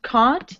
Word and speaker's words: can't: Yeah, can't, it sounds British. Can't. Sounds American. Kent.